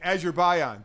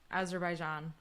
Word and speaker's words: Azerbaijan: is finally back in Azure Bion did I say it right no so close what is it Azerbaijan Azerbaijan first and foremost before